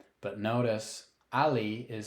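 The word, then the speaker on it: alli: Double L but notice Ali is spelled with two L's but only pronounced as if there were one L this is just one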